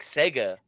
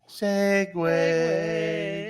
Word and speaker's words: segue: back yeah backwards segue why do you say it like Sega Sega I don't know segue you're riding on the